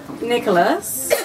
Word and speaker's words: Nicholas: Nicholas, as you know, it rhymes with us. But also class and glass and fast.